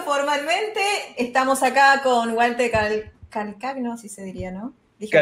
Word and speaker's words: Calcagno: Estamos acá con Walter Calcagno, así se diría, ¿no? ¿Dije bien? Calcaño se pronuncia.